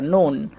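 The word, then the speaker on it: noon: ঠিক তেমনি করে ধরেন আমি বলতে পারি এই যে এই বানানটা নুন এখানেও দেখেন ও প্লাস ও মানে দুইটা ও পরপর চলে এসেছে এজন্য ও লেটারকে ও উচ্চারণ করতে হবে ঠিক তেমনি করে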